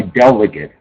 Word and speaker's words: delegate: Now delegate is interesting because it's both a verb and a noun and it's pronounced slightly differently when it's a noun. So we use it as a verb delegate. I delegate uh tasks to other people. Okay. But rather have somebody that's appointed to do something who's my delegate. Okay. So I pronounce the a slightly different.